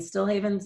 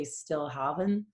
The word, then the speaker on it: Stilhavn: And StilHavn's a bit of a weird one. So some people say StilHavn. It does have more Scandinavian roots.